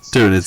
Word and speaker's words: Tyranids: Tyranids, thank you.